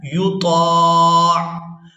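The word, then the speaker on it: يُطاع: طرح سے سیکھ سکیں۔ یا پیش یو، طا، الف، عین زبر، طاع۔ اب یہاں پر ہم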